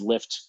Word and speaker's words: Lyft: were unfamiliar with lyft before um their name is spelled l-y-f-t however if i just said lift commonly you might assume that it's l-i-f-t that